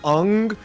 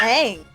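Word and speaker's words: Aang: it's they pronounce the character's name wrong they pronounce the name un and all the characters are whitewashed yeah his name is ang his name is ang but they pronounce it un what yeah per have you seen Logan that's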